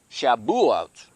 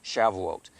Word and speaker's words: Shavuot: the year, and also Shabuot, okay, is really a better pronunciation, or Shavuot.